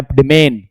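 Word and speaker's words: demesne: हैं देखो जो बच्चों ये व एस साइलेंट है इसको पढ़ते हैं डिमन क्या पढ़ते हैं डिमन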